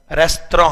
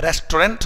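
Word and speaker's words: restaurant: से अचानक मिला था इसका शुद्ध उच्चारण रेस्तरां होता है रेस्टोरेंट हम लोग आम बोलचाल में बोल देते हैं इंडियन एक्सेंट में लेकिन ब्रिटिश इंग्लिश जो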